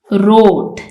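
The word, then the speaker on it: wrote: इसमें टी ट है रोट इसमें डब्लू साइलेंट है क्रम सॉरी इसमें बी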